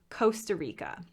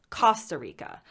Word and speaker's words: Costa Rica: who would call it costa rica i might be accentuating that a little bit but they pronounce the o not as a coast but as cost costa rica costa del sol um